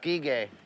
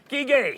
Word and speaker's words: Guiguet: How do you pronounce that last name again? Guiguet. Guiguet.